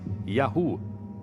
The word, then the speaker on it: Yahu: Segundo textos egípcios, um dos lugares onde viviam chamava-se YHW, que provavelmente pronunciava-se Yahu, o nome de seu deus patrono. O termo Yahu é bem semelhante a Yahvé, nome do deus israelita.